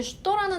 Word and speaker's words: что: 표준어라는 게 없지만 어쨌든 가장 스탠다드한 억양은 슈도가 맞고요. 때에 따라서 초, 슈다, 슈도 이런 식으로도 사용이 됩니다. 하지만 초 뭐 이런 거는 좀 뭐랄까 시장에서 사용하는 그런 좀 강한 언어 강한 발음이니까 우리는 그렇게 쓰지 말고 표준어로 슈도라고 발음해 주시면 돼요.